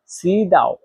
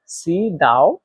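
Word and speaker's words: 迟到: দেরি করা এর সাইনিজ হচ্ছে সি দাও। সি দাও এর বাংলা হচ্ছে দেরি করা। এখানে দেখেন সি। এটাতে চাইনিজের দুই নাম্বার টন ব্যবহার করা হয়েছে। আর দুই নাম্বার টন উচ্চারণ নিয়ম হচ্ছে নিচ থেকে উপরে।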